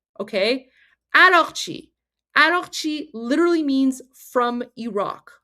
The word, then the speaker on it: Araghchi: Guys, Arakchi, his last name, okay, Arakchi. So Arak is how you pronounce Iraq, okay? So his last name, Arakchi, literally means from Iraq, okay?